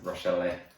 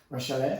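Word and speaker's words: Rachele: Another crazy debutant from the round, and I think it's pronounced Rochelle. Rochelle? Yeah, the Italian pronunciation of it. You gotta flick your wrist a little bit when you say it as well. Rochelle.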